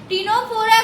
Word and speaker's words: Ctenophora: सी silent होता है दोस्तों, टीनोफोरा।